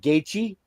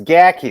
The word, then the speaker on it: McGachy: Is it gatechi? It's gaki. It's like a hard gi. It's a K sound.